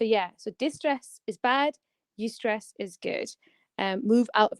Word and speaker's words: eustress: Distress versus eustress. Yeah, EU stress. So basically, Eustress. yeah, it's spelled EUSTRESS.